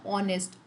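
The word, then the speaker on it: honest: इसका प्रोनाउंसिएशन करते हो तो हिंदी में क्या आता है, ऑनेस्ट, ओ वाला प्रोनाउंसिएशन आता है।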